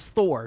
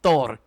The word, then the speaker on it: Thor: Everybody says it's Thor. No, it's Thor.